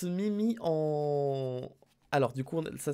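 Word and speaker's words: 耳: Ça se prononce... Mimi. Ça se prononce Mimi en...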